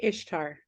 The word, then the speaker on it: Esther: of Vanessa and and in Persian that that name would have been pronounced Ishtar um yeah do you